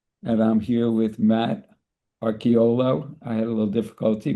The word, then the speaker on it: Arciuolo: And I'm here with Matt Arciuolo. I had a little difficulty with the pronunciation, Matt.